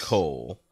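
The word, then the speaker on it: kool: So apparently yeah, I don't know the Dutch it, word for is K-O-O-L, which is pronounced yes. Coal.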